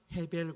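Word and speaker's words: הבל: 그래서이 아벨이라든가 나오는 헛되다 헤벨 같은 말이에 발음도 사실 히브리어에서는 헤벨이라고 해야 됩니다 아벨 그렇게 돼요 비슷합니다 같은 단어고 그렇습니다 여러분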